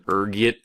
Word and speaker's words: ergot: There's a few different ways you can pronounce it depending on your social standing, ranging from ergit to elgo. Being the disheveled pauper I am, I prefer ergot.